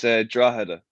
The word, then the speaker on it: Drogheda: So Drogheda, yeah? Is that pretty much how you pronounce it? It's Drogheda.